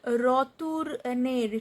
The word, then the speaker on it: retourner: So verbs are retourner, to return. Retour. OU sound is U.